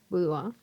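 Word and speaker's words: boudoir: Girl to girl budua. En budua se escribe b o u d o i r. Pues porque es una palabra en francés.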